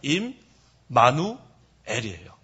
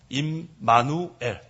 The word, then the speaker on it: 임마누엘: us 그다음에은 하나님이에요 그래서 이걸 정확히 발음 하려면 임 마누엘이에요 한번 해보세요 임 마누엘 그래서 영어로 임엘 이렇게 된 거예요 그래서 임은 함께란 뜻이야 함께 마누는 우리와 엘은 하나님 그래서 임마누엘 영어로 그대로 하면 god